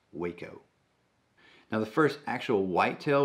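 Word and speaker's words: Hueco: out in west texas in an area called waco mountains yes that is pronounced waco now the first actual whitetail with chronic wasting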